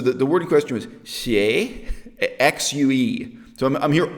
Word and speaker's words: xue: The way the people in the movie actually pronounced that word sounded more like S-I-U. It's just xie, xie. Like, that's all this xie. They didn't even pronounce the X. In Chinese, X is different from S. They were really just pronouncing xie.